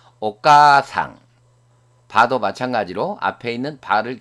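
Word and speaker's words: お母さん: 까 뒤에 아단 문자 다음에 아가 왔기 때문에 이 아는 장음부호와 마찬가지입니다. 그래서 아를 발음하지 않고 앞에 있는 까를 길게 발음하면 됩니다. 오가상.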